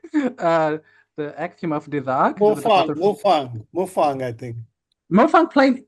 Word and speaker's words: Desargues: No, it's Desargues. It's Desargues.